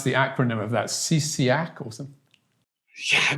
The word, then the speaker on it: CSIAC: the acronym of that ccac awesome yeah csi ac is the way i go about it um you don't try and make a word out of it but but anyway but